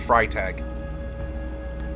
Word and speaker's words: Freytag: the way I think that should be pronounced fry tag so shame on me